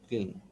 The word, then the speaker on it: kiln: I've seen them, but I didn't know they are called kiln. How do you pronounce that? Kiln or kin? Clean. Why isn't it? Kiln, kiln, kiln. So L is pronounced kiln.